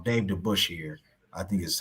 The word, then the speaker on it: Dave DeBusschere: And then another person, Dave, apologize if I pronounced his name wrong. Dave DeBusschere, I think is how you pronounce it.